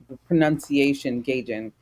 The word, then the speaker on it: gaijin: You corrected me a bit ago about the pronunciation. Gaijin.